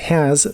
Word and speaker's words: has: La H de has también se pronuncia como una J suave. La A también es una mezcla del sonido E y el sonido A, y la S del final, en teoría, es el sonido de la Z inglesa, así que es vibrante.